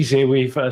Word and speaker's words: Z-Wave: Uh, cool to see Zwave, Z-Wave, uh, or Zwave, depends on where you are in the world, I guess, how you pronounce it, uh, to to see that light up a bit.